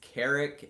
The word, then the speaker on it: Carrick: I'll explain okay so my first name is Carrick and that is basically you pronounce that like Eric but with a C or a K in front of it so like I said Eric but I go to see your case so that's Carrick and that is my